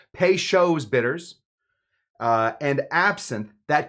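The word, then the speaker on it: Peychaud's: Po's bitters. I said it wrong. Pes shows bters.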